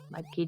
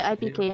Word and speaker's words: iiPK: But iiPK has 2 eyes in his name, but as he says on his stream, the first eye is silent, so that might be why his name only says iiPK here.